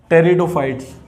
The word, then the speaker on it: Pteridophytes: पहला है हमारा थैलोफाइटा, सेकंड है हमारा ब्रायोफाइट्स, और थर्ड है हमारा, इसमें पी साइलेंट है, टेरिडोफाइट्स।